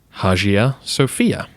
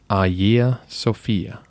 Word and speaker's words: Hagia Sophia: not in modern Greek the pronunciation should be AA Sophia thank you so much